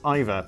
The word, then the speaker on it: Eva: Still, she was stuck with the first name Eva, though, which Simon has probably been pronouncing Eva, but is actually pronounced Iva.